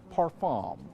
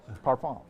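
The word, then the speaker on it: parfum: It is Chanel's Allure Oda Parfam. Parfam. Perfume. That's the way they say it over there across the pond. Parfam. Yeah. Parfom.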